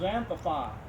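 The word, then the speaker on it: xanthophyll: An X is usually pronounced an X before a vowel anyway is usually pronounced as Z. So it's zanthopi.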